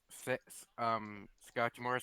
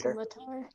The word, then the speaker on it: scimitar: Is my Scotchmore still out? Or I can't ever say his name Scimitar. right. Scimitar.